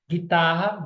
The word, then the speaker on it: guitarra: do U tá bom guitarra guerra foguete fogueira todos são dígrafos porque eu não consegui conseguir escutar o som do U desço cresça renasço nasço